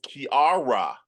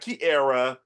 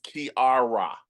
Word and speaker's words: Kiara: It is Kiara. And she's gonna be sure to tell you that it's not it's not Kiara, it's Kiara.